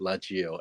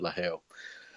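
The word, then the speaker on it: LaGeo: um like it's about la gio la gao but they pronounce it la hayo um but you know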